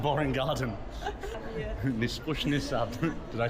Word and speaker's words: Нескучный сад: Nispushny sad.